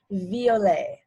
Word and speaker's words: violet: in french it's pronounced violet and when you see the e t letters in french it's almost always going to make the a sound so here it's vla